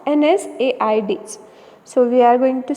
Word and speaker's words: NSAIDs: as non-steroidal anti-inflammatory drugs commonly pronunciate it as nsaids so we are going